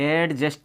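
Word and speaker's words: adjust: क्या बोलते हैं, इसमें डी साइलेंट हो गया एडजेक्टिव। ओके, यहाँ पर देखिए एडजस्ट नहीं बोलेंगे, एडजस्ट।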